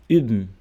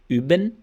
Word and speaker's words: üben: Só que você vai fazer o bico e falar I.